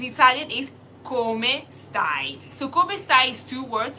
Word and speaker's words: come stai: So come stai is two words, how are you? Come stai, how do you spell it?